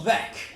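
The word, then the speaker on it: Veeck: my name is Bill veck that's right that's right all you guys know me you know how to pronounce my name because my autobiography says ve rhymes with wreck I grew up in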